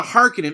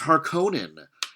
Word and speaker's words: Harkonnen: I find it odd that they say Harkonnen. Maybe that's the correct pronunciation, but Harkonnen with the hard and strict vowels sounds better than Harkonnen. Harkonnen sounds like a car running out of gas.